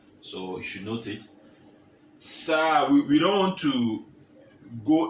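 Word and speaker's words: ث: So this letter is also pronounced as TH. TH in English language. The. So you should note it. Tha.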